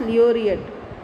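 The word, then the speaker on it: laureate: Okay, Nobel लियोरियट, हाउ इट is pronounce, लियोरियट, यानी कि honoured with, यानी कि नोबल प्राइज़ से जिसे ऑनर किया गया है.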